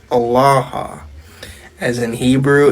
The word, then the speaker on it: Allah: And by the way, he spoke Aramaic, and the word for God in Aramaic is pronounced Allah.